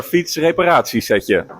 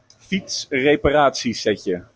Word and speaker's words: Fietsreparatiesetje: Okay, next up is our fietsreparatiesetje.